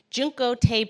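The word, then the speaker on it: Junko Tabei: Junko Tabe, I believe is the right way to say her name.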